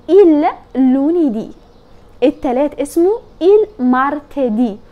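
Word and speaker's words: martedì: لوني دي الثلاث اسمه مارتدي وخلي بالك بتقول مارتدي يعني بتتك على اخر حرف في الكلمه ليه عشان في اتشنت منور اهو موجود على حرف الاي فبتنطق مارتي دي اتعلم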